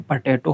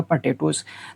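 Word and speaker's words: potato: ओ में ई एस ऐड कर देंगे हम, पटेटो हो जाएगा, पटेटोज। तो इसको पटेटो होता है, इसको पोटैटो नहीं पढ़ते हैं, ठीक है, आप ध्यान रखेंगे इसको, ठीक है।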